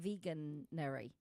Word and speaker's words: Veganuary: Vegan like January, but veganuary.